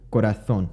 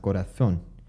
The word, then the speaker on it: corazón: Corazón, which has a Z, has the theta sound, corazón.